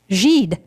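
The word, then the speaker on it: Gide: nobel laureate and poet andre guide or giddy i don't know how you pronounce that gentleman's name g andre g geed g-i-d-e thank you spring writes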